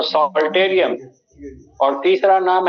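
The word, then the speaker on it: psalterium: दूसरा नाम है सॉल्टेरियम, पी साइलेंट है तो सॉल्टेरियम, और तीसरा नाम है लाइरा।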